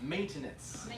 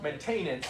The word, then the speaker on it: maintenance: by the way uh this is pronounced uh maintenance you guys maintainance yeah tiny tiny problem